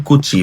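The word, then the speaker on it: 口: হ্যাঁ, দেন কুচি বা মুখের কাঞ্জি, এই যে বক্সটা, বক্সটা হচ্ছে মুখের কাঞ্জি।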